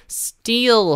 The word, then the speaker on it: steal: steal 하면서 E 하면서 좀 길게 빼주는 STEAL 이게 바로 훔치다라는 것입니다. 네, 그래서 그 I 발음하고 EA 발음하고 같은 E인데 좀 이렇게 발음의 길이가 달라져요.